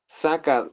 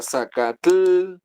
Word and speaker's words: zacatl: Ya observaron que la terminación TL no se pronuncia Zacatl ni Acatl, como muchas veces lo ponen en los medios de comunicación cuando se mofan de cómo hablan las personas originarias.